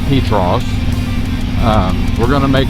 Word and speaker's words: Petros: A lot of people when they do the videos, they they pronounce it Petros. Uh but it's actually pronounced Petros.